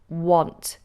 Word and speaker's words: want: Now this, you pronounce this almost like it's got an O in it. O. Want. It's not like want.